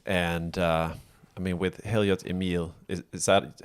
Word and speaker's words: Heliot Emil: of different ways and uh I mean with Hilliard's Emil is that how you pronounce it yes I didn't know if it